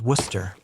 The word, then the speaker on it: Worcester: Worcester becomes Wooster, Gloucester becomes Glosster, Leicester becomes Lester, Salisbury becomes Salisbury.